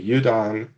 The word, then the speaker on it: Eúdann: sure we do first i know how i pronounce the names but i want you to tell me how we pronounce the three main characters that we have right now um so our main character uh that'd be udon who is our young